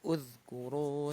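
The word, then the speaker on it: اذكروا: hamzah wasalnya bacanya apa Oh, nih? doma. Toma. Kenapa? Karena huruf ketiganya doma. Iya. Jadi bacanya uzkuru ni'matiyal gitu ya.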